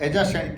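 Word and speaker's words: adjacent: इसको हम एडजेसेंट पढ़ेंगे। एडजेसेंट, ड का जो उच्चारण है डी का वो साइलेंट रहेगा। इसको एडजेसेंट पढ़ेंगे।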